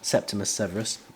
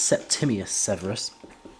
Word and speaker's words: Septimius Severus: how you say it you say it's slightly weird but i call him septimus severus i think it's septimius severus okay and uh i found